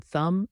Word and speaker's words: thumb: The B in thumb is silent.